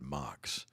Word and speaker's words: Max: Planck or I think he actually pronounced it mocks so MUX well you